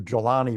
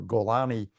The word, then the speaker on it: Jolani: Obviously, the fact that, depending on how you pronounce it, the head of HDS is named, fake name, nom de guerre, is either Jolani or Golani, hard or soft G, suggests he might have